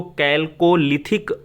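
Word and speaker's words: Chalcolithic: और अगला प्रश्न आता है, कैल्कोलिथिक युग, ये थोड़ा सा प्रोनाउंसिएशन में मिस्टेक है और इसको कैल्कोलिथिक युग कहा जाता है।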